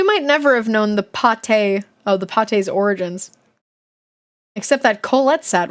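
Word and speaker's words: pâté: It was called beef pate. That's pronounced pate, which might be French for meatloaf, if Isabella is right.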